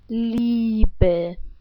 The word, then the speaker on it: Liebe: So how would you pronounce these two words? I'm gonna tell you. Die Liebe.